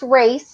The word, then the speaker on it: Racz: Yes, it's pronounced race, like a race car, but it's spelled a little different.